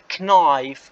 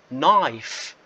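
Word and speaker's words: knife: Okay, هون ال K حتكون silent يعني كأنها مش موجودة.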